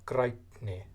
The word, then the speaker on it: grænni: So instead of grænri we have grænni, and that's pronounced with the T insertion.